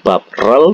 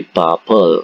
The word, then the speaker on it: 밥을: Karena ini huruf terakhirannya adalah konsonan, maka partikelnya adalah l, bukan bab rel tapi babel ya.